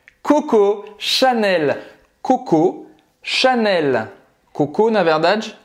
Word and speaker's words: Chanel: O L nunca vai ter som de U em francês, certo? Então é Chanel, você vai simplesmente pronunciar esse L, vai terminar a pronúncia no céu da boca e solta a língua.